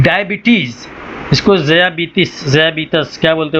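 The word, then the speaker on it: diabetes: लिखा तो रहता है लेकिन आज तक ये ज़बीतस है कि ज़बीतिस है और आप किसी को भी बोलेंगे ज़बीतिस कोई नहीं समझेगा तो डायबिटीज ही बोले ठीक है ब्लड प्रेशर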